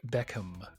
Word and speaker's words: Beckham: to watch bendit Like Beckham oh God you had to pronounce the h i don't think they think that's how they say it anyway yes it's the 2002